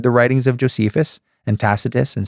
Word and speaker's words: Tacitus: Okay, so read the writings of Josephus and Tacitus, and some people pronounce it Tacitus. It's up to you.